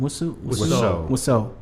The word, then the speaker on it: Wiseau: The Room, the acting in The Room, I think it would be best if Tommy, how do you pronounce his last name? Wiseau.